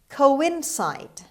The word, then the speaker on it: coincide: departed word number three coincide coincide coincide the stress is on the third syllable on c the second c coincide on c sound